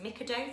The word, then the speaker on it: Mikado: So I picked up these little I think they're pronounced as Mikado sticks.